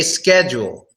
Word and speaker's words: schedule: But we just say schedule, schedule. So the way we pronounce it, it's almost as if the H is not there.